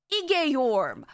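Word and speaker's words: Igeyorhm: Essentially, oh yeah, and Durante was led astray by Igeyorm, which I found out now that's how you pronounce her name, which is crazy to me. Igeyorm?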